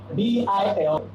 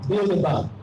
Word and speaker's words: Bilderberg: B-I-L-D-E-R-B-E-R-G. It's a German word. Bilderberg.